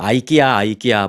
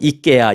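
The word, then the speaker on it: IKEA: 미국에서는 우리는 뭐 아이키아 뭐 이렇게 부르죠. 그런데 이제 한국에서는 그 현지 유럽 그쪽 스웨덴인가요? 그쪽 발음으로 이케아 이제 부릅니다.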